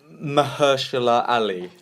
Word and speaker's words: Mahershala Ali: it till last because I still struggle to pronounce his name. Actor in a supporting role. You got his name right. Mahershala Ali.